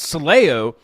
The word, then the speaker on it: Soleo: We say Soleo.